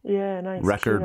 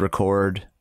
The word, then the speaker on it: record: noun and a verb, the noun tends to have the emphasis go on the first syllable, whereas if it's a verb, it goes on the last syllable. So like record, record, produce, produce.